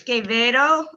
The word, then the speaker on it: Quevedo: It's Quevedo, like yeah, the Spanish pronunciation for cheese, queso.